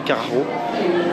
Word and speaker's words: Karacho: sur carraro se dit ça s'écrit caraco mais ça se lit carreau et c'est un imposteur